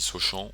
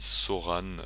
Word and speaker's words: Sochan: Ah, alors oui, pour ceux qui se demandent comment on le prononce, on dit pas Jérémy Sochan, on l'appelle pas Alain non plus, on l'appelle Jérémy Soran.